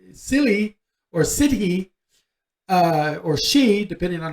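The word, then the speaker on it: sídhe: or or si silly or city uh or she depending on how you want to pronounce it she is actually the pronunciation but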